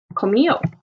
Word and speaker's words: comió: Now note that the accent is on the O, not on the I like it is in the yo form. So here we would say comió.